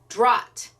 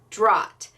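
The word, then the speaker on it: Dragt: Chrissy is the first one who said, oh, I think the G is silent, and it's Drott.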